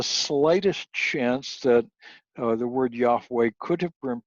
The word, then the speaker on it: Yahweh: e in it so we would pronounce this Yahweh two syllables Yahweh now during the Reformation